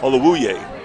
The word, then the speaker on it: Olawuye: Alawuye? Olawuye. Make sure we pronounce that U.